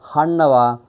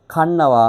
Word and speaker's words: ගන්නවා: இத சில பேர் ஹன்னவா கண்ணவா அப்படி உச்சரிக்கிறது. க சத்தம். கண்ணவா. கண்ணவா.